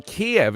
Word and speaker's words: Kiev: Apparently Kiev is the Russian pronunciation. So the Russians would say Kiev. Kyiv. All the US broadcasters say Kyiv.